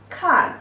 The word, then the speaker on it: 看: And the pronunciation is 柯安看, the fourth tone.